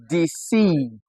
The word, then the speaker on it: deceive: We have that sound in the letters ei. Letters ei. All right. Now we find this in words like receive ei. We equally find it in words like deceive. Ei.